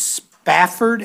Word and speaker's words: Spafford: It's Spafford, S-P-A-F-F-O-R-D? Yes, sir. I bet people mispronounce that all the time, don't they?